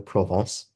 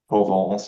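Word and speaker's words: Provence: its modern name yeah you have to say it like frenchly okay I would defer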